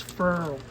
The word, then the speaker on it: foil: Well, here's another way people pronounce things differently in the whole entire United States, except New Orleans. This stuff's called foil, just a little foil backing. Down in New Orleans, they call this furl.